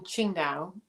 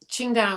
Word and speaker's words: Qingdao: memory that sticks out so we lived in qingdao um qingdao is spelt in in kind of modern chinese transit